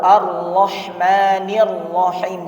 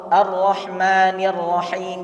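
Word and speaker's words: الرَّحْمٰنِ الرَّحِيْمِ: Contohnya iyyaka atau ar-rahmanir rahim, jangan dibaca ar-rahmanir rahim, jangan kurang tasydidnya. Atau juga memanjangkan barisnya, misalnya alhamdulillahi rabbil alamin, dibaca alhamdulillahi rabbil alamin, ar-rahmanir rahim.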